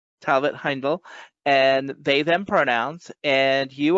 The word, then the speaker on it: Talbot-Heindl: on Colfax and today I'm here with Talbott Hindle did I pronounce that correctly Talbot Heindel and they/them pronouns and you are the creator